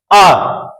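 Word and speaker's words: hour: Again an, in this word H is silent, H को हम पढ़ते नहीं है।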